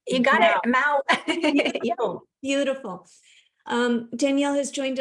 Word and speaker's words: Mouw: I need like a phonetic pronunciation. You got it, Mount.